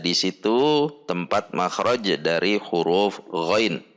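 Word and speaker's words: غين: the first ghoin letter, the ghoin letter when it is not harassed is read: ghoin-fathah-Ya-sukun-Nun-sukun = ghoin, not GHO so when it is not sacred, it is read as ghoin, then makhroj the ghoin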